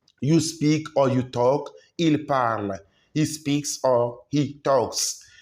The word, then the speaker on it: parlent: The ENT is silence, is mute, it's not pronounced. It is the mark of third Personne plural. Il parle, not il parlent.